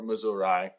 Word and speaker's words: Missouri: Cross the wide Missouri," or Missouri, as it's if you're going for a more sort of archaic pronunciation.